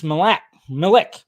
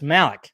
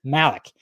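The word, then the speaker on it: Malick: to Ridley Scott and Terrence malac mik sorry Terence Malik geez I can't even say his name right Terrence Malik so uh we got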